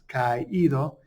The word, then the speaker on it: caído: on that I, and the reason for that is because A and I become a diphthong, so they become one syllable. And if you don't have that accent, it would be caído, and that's not how you say it. It's caído, and that accent separates the two vowels and makes two syllables.